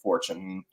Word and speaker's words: Fortune: the the spelling but they wanted to pronounce it more american and that's why they pronounced it fortune that's what we've gone